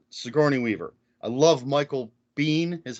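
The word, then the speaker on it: Biehn: know you've got sigourney weaver i love michael bean is how i always pronounce it yeah i do too um and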